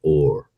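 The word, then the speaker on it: אור: word for skin and the word for light, um, there's one letter difference, but they're pronounced the same. It's or or.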